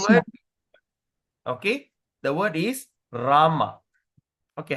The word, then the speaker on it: Rama: It comes with the it comes with a dash on top. Okay. Dash on top. Dash on top means we pronounce as rama. Rama.